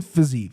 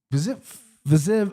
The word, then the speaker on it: Fiziev: But Joe's taking Fiziev.